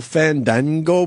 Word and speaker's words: Fandango: Will Fandango be there? Fango. Fan Dango. You got to say it right. You know, you got to relax the A.